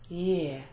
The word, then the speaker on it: year: have the problem ear year and for year you do exactly what you can see in writing you say ear and you put a y in front of it yeah now I'm sure